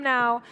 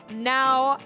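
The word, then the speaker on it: Nau: his name is daryl now and that's spelt n-a-u but it's pronounced now because he's right here right now daryl welcome to the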